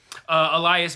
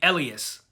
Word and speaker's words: Elias: But I do want to point out, they pronounce his name Elias in the show, not Elias, but it's spelled E-L-I-A-S.